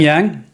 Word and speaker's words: yang: Yang with fang. Yang rhymes with fang. Think about a white fang.